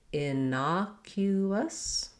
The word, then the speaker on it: innocuous: clear oo vowel there and then we end with a schwa sounds just like the word us or you can even do a little bit of an is sound just light and short and unstressed on that last syllable building it up innocuous